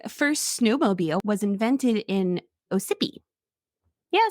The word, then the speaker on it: Ossipee: The first snowmobile was invented in Ossipee. Yeah, sounds good. It's like it wanted to be Mississippi, but then didn't want to copy it. So then it was just like Ossipee.